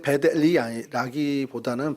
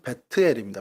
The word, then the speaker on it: 벧엘: 정확하게 이제 베델이라기보다는 발음은 베트엘입니다. 베트.